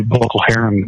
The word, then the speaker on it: Boko Haram: In where basically Boko Haram kind of area. Yeah, it's a war-torn area. Is that they pronounce it Haram?